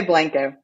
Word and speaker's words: Blanco: The locals say Blanco.